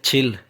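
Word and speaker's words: 칠: हैं इसके बाद गाइस आगे यत है और ई है छी और आगे रिला जो कि लाम के बाद गया क्योंकि ये एंड पे है तो ये बनेगा छिल छिल कहते हैं सात को उसके बाद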